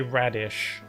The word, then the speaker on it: Raditz: Say radish. Radish. It's like radish?